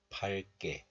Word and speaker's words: 밝게: But when this letter is used with other letter, then the hidden 리을 sound gains its value. So it is pronounced as 발. 발. So we pronounce this like 밝게. 밝게.